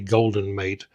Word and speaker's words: Goldenmate: the name wrong early it's not gold mate it's actually golden mate the the way this